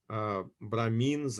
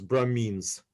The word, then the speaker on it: Brahmin: How you pronounce Brahmins? We call it Brahmins or Brahman. Brahmin. They're, Shudra.